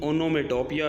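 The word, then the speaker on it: onomatopoeia: दोस्तों इसकी pronunciation ओनोमेटोपिया है, और इसके स्पेलिंग्स को ज़रूर याद रखिएगा।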